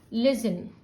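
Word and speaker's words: listen: But again लिसन में जो N sound लास्ट में आ रहा है, क्योंकि टी साइलेंट है, this is not stressed here, तो आप एन को डबल नहीं करोगे.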